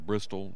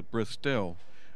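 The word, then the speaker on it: Bristell: the Bristol and if some people call it a Bristol they normally butcher the name but it's a bris tell what is the lineage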